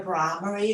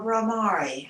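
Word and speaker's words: Bhramari: And then to this, we're going to add the Brahmari or Brahmari. I've heard them pronounced both ways, which is the bumblebee breath.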